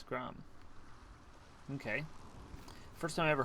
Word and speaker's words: Gram: the fragments of his sword the sword named gram you don't pronounce that last r it's grom okay first time i ever heard of odin